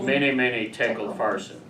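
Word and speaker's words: Mene Mene Tekel Upharsin: Usually it's pronounced mene mene tekel farsin.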